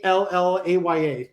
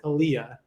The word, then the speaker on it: Aaliyah: The first was Aaliyah, who said, there is no way that they were ever going to call my name Allaya, pronounced Aaliyah.